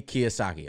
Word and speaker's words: Kiyosaki: never seen that deal before yeah Robert T Kiyosaki okay I was right but basically it's a